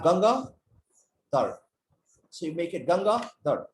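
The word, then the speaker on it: Gangaadhar: during the meeting well if you break my name into two parts g-a-n-g-a-a hyphen dhar so you have ganga third so you make it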